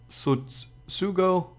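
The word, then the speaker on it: Tsutsugo: Sugo. I try to not say the T, but I know that people do say the T in his name.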